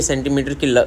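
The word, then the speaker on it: 센티미터: र जो है ई आर जो है वो साइलेंट करते हैं, सेंटीमीटर यहाँ तक बोलते हैं, या सेंटी भी कह देते हैं, तो ये उसका यही मतलब समझते हैं।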